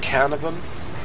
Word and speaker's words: Caernarvon: I think it's pronounced Caernarvon, and yeah, I wanted to give you a